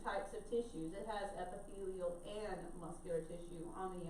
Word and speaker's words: epithelial: a little bit weird, so epithelial is how you pronounce this top one, so epithelial. I know it looks like epithelial, it's not how you say it, so don't say it like that. So epithelial, so be careful with that one.